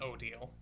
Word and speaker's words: Odile: Okay, so it is pronounced Odile.